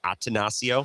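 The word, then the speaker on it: Attanasio: bit, it's does uh how do you pronounce their owner's name? Atasio.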